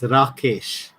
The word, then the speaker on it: Rakesh: It's the actual pronunciation is Rakesh. Rakesh. Yeah, it is. That is the Indian pronunciation.